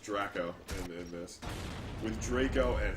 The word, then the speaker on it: Draco: triangle of sorts with Draco Draco and it's pronounced dracco in this with Draco and Harry one of